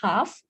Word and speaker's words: half: Okay, in this word also we have L silent, half.